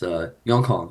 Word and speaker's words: Yongkang: contemplating like how do you like Yeah, pronounce it and stuff. Okay, it's my full government name right there. It's Yongkang.